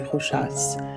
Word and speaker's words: Rochas: I'll attach a playlist of all my reviews to this video, but today I'm discussing Tocade by Rochas, pronounced with an S at the end.